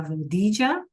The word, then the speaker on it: rodilla: Again, that double L sometimes is pronounced as a J. So you could hear it as la rodilla, right?